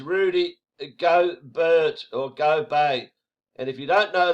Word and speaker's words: Gobert: called uh how do i say it rooney gobert but actually it's pronounced go bay there he is the frenchman and the reason